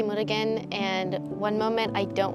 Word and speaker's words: Murugan: So just hold up the paper, say your first and last name, and spell it for me. My name is Murugan, and then my last name is MURUGAN.